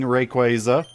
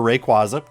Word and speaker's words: Rayquaza: You just go and wake up the sleeping Rayquaza, or Rayquaza, depending on how you want to pronounce it.